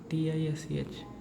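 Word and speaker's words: Tisch: a or U so it sounds as is sh sh sh right sh so it becomes as t i s Tish Tish and the meaning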